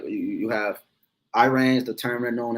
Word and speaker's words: Iran: So when you go into the history around 1935 is where the name changed from Persia to Iran or Iran, is really how you say it, Iran.